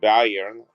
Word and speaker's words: Bayern: He was put over in charge of Bavaria, which in Germany says Bayern, but Bavaria is how you say in English.